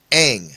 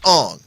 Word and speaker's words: Aang: Because And it's Aang, See, that- not Ong.